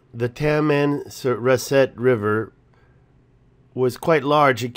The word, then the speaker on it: Tamanrasset: explorers that I went around Africa found the tamarind surrett River I would say it wrong the tamanrasset River was quite large it came out and